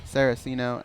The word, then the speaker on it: Saraceno: Saraceno and John Makdessi.